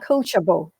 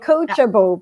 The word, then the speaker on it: Coachjable: And I just like to share with everyone the pronunciation of my startup. The coaching platform is actually called Coachjable. It's called Coachjable because everyone on that platform is coachable, because we all have the spirit of the lifelong learning spirit.